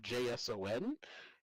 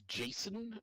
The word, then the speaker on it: JSON: Um usually sort of summed up with the acronym JSo N. Uh pronounced by many as JSON. Um although others pronounce it JSON uh whatever potato whatever your favorite flavor of that is.